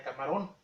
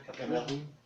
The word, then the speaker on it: Camarón: La hacienda de Camarón, como lo pronunciaban muy mal los franceses, no pronunciaban Camarón, pronunciaban Camerún. Y de ahí le pusieron a esa esquina de África, Camerún.